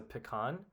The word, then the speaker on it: pecan: Um, so some kind of nut that goes in a pie typically is a pecan or peacin. I don't know how to actually pronounce it. I more often say pecan.